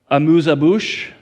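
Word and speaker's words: amuse-bouche: 12th course meal goes like this hors d'oeuvres a moosa bush that's how you say it amuse abush soup appetizer salad fish first main course palette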